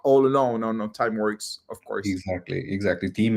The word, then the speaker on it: Timeworx: Uh let's uh now maybe start with the idea of time works. Uh, do I pronounce well? By the way, time works. Yeah, that's it. We make your time work for you. So, it's time works.